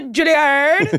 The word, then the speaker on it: Juilliard: So, my assistant, Lindsay, did some research, and you went to Juilliard? Yes. I went to, I like to pronounce it Juilliard.